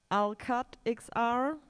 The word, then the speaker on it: Alqatt XR: And the next team up is Alqatt XR. I hope I pronounced it right. Are you there? Yes, you pronounce it correctly.